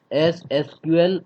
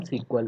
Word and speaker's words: SQL: ठीक है, तो अब इट प्रोनाउंस एस एसक्यूएल और समटाइम सीक्वल।